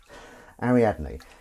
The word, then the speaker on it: Ariadne: ladies ladles night yeah ariadne and Ainsley was like how do you pronounce that and we had to we someone put it on them phonetically you know Harry add me so that he could